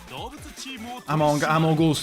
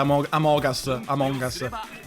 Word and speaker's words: Among Us: Amogus, ho detto proprio. Stiamo provando a fare la versione pronuncia corretta. Among Us.